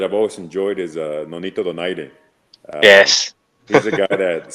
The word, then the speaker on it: Donaire: It's not Donaire, it's Donaire."